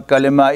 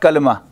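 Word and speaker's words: كلمة: and the plural for Kalima is remember the pronunciation it is not Kalama Kalima Kalima means the meaningful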